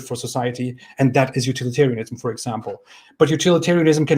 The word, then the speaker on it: utilitarianism: It is utilitarianism, not utilitarianism.